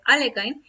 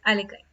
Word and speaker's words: Alekhine: bien una de las voces más ocupadas para pronunciar el apellido de este jugador en francés es alexander alekhine he escuchado que en algunas ocasiones se le